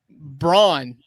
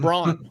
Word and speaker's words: Braun: Don't call me Brown, whatever his name, Christian Braun. Brown. I hate the fact that he says, "Oh no, it's Brown." Like, no, not here, not on this side of the pond. Nowhere is Braun pronounced Brown.